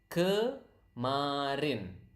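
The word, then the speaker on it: kemarin: repeat up to me so that you can pronounce the word correctly Karin natural speed Karin Karin okay that's yesterday now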